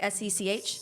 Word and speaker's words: Sech: I probably pronounce his name wrong. Is it Sech? It's like S-E-C-H?